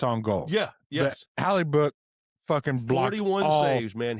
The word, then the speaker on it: Hellebuyck: Connor Hellebuyck. Is that how you say his name? Yeah, Hellebuyck plays for the Winnipeg Jets.